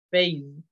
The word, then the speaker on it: phase: Por ejemplo, fase se dice phase, con la Z, con el zumbido Z, para que no pronuncien cara igual que fase, no es lo mismo.